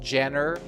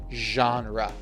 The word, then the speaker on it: genre: Remember the pronunciation not Jenner genre.